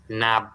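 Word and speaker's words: knob: নাব। এখানে কে উচ্চারণ হবে না?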